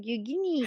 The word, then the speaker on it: Youghiogheny: No, it's like Yugini. I was like the Yu-Gi-Oh! Oh my gosh, that's so funny. That's what it sounds like.